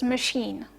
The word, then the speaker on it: machine: stood out which was machine okay in machine you had a long vowel okay e but which did not correspond to the long vowel that you usually have for um the eye vow and the